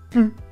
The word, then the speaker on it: plus: la négation ne plus on va prononcer plus comme pu je n'en veux